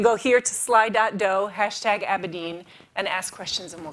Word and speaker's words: Abedin: So you go to Slido, and it's hashtag, and I've always heard Abedin.